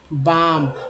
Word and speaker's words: balm: बाम, बाम जैसे बाम आपको लिखते हैं बाम, झंडू बाम देखा होगा आपने, तो इसमें लिखा होता है BALM, जिसमें एल साइलेंट होता है, बाम।